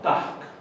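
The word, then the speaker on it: takk: se dice fans él la doble k se pronuncia hk y como dice bueno entonces esto sería un tag me costó sí gracias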